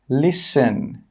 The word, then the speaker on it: listen: The letter T is not pronounced in these words. Castle, Christmas, gourmet, listen, rapport. In all of these words, we're not pronouncing that T sound. It is silent.